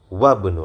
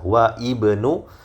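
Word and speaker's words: وابن: Dan apabila dia berada di tengah-tengah kalimat seperti ini, ya, maka dia tidak dibaca. Jadi kita membacanya disambung begitu ya, wabnu langsung masuk kepada huruf ba yang disukun, wabnu.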